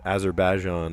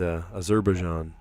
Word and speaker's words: Azerbaijan: I used to think it was Azerbaijan, or most people pronounced it that way. But Azerbaijan. Sneaks a peek, glances.